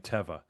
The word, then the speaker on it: Teva: I went to the website and I was watching a bunch of employee videos and they were saying Teva. So I assume that the employees know how to pronounce it.